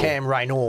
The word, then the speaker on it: Cam Rayner: You pronounce Cam Raynor. Cam Raynor.